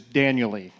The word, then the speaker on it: Daniel: It is Daniel-y. Daniel. Like, it rhymes with annually, manually, and cocker spaniel-y.